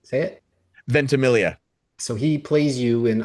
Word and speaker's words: Ventimiglia: So having Milo, and I always say his name wrong, Ventimiglia. Ventimiglia. Yeah. Say it. Ventimiglia.